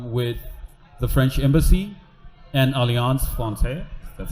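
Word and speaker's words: Alliance Française: So we're in collaboration with the French Embassy and Alliance Francaise. That's how you pronounce it.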